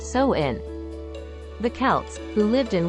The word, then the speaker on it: Samhain: Believe it or not, Halloween can trace its roots back over 2,000 years to the ancient Celtic festival of Samhain, pronounced So-in.